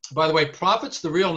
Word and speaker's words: Prophet: girl no i mean it's spelled p-r-o-p-h-e-t like a prophet like a profitable yeah exactly exactly steve